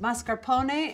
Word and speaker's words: mascarpone: crackers or a toasted baguette this is mascarpone pronounced mascarpone in italian this is a double or triple